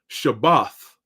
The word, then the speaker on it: Shabbat: course the lhawang qadash how you say it in the Hebrew is shabbath it's not Shabbat like you see a